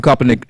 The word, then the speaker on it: Kaepernick: Colin Kaepernick, did I say it correctly?